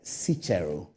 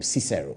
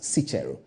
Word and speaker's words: Cicero: a book that is written by sichero or those who call him Cicero but his name that is pronounced sichiro is a Roman philosopher